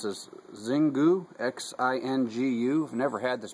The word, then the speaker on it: Xingu: Pairing today's cigar with, I guess you pronounce this Xingu, X-I-N-G-U.